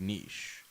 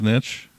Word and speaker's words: niche: It's a niche for sure, but it's a pretty big niche. Isn't that pronounced niche? I think it's niche. It's like quiche?